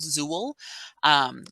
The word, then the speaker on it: XUL: The older ones will say XUL or it's pronounced Zool, which tells us that it was created when we used the desktop application for Evergreen Indiana.